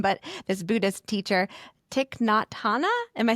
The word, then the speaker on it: Thich Nhat Hanh: And I'm going to butcher this prophet's name, but this Buddhist teacher, Thich Nhat Hanh.